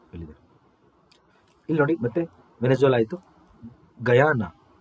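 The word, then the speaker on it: Guyana: ಇಲ್ಲಿ ನೋಡಿ ಮತ್ತೆ ಆಯ್ತು ಗಯಾನ ಇದು ಗುನ ಅಲ್ಲ ಗಯಾನ ಉಚ್ಚಾರಣೆ ಗಯಾನ ಜಾರ್ಜ್ ಟೌನ್ ಸೂರ್ಯನ ಒಂದು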